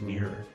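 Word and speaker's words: Mir'r: Here we have Mover, Shopper, and Mirror. That's just how you pronounce mirror. Yeah, but it's spelled different.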